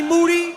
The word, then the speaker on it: Moody: Moody. Last name rhymes with duty for show.